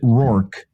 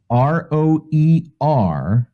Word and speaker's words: Roerich: You pronounce it Rourke, but it's spelled like Roerich. Roeich? Roerich.